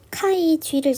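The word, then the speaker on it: χ: 하는 건 무엇일까 표기는 카이지를 써요 카이라고 읽고 자이라고도 읽어요 카이 g 채색수 하는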